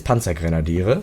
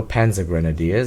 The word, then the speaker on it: Panzergrenadiere: But in German it's Panzergrenadiere, so Panzer Grenadiers as most English people pronounce it.